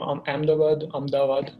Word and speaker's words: Ahmedabad: alma mater duke university i hail from ahmedabad that's what the original pronunciation is in gujarat in india and i